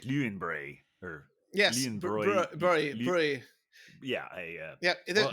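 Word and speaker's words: Löwenbräu: What was the way they pronounced Lowenbrow? Oh, I don't know. I can't It's even. something like Leuenbray or Yes. Leuenbräu. Brie. Yeah, Yeah. Well, This brow is not a thing. It's broy.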